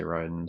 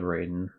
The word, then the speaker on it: Raiden: tell Ryden here um, and they pronounced his name in game. They say Ryden. So instead of Raiden, which is what I, you know, I was hopping back and forth between them, but they pronounced it in game.